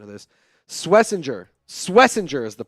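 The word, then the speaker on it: Schwesinger: Swessinger is the pronunciation.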